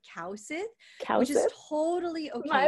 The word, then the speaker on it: Kaewsith: my last name initially so it's actually cow Sid which is totally okay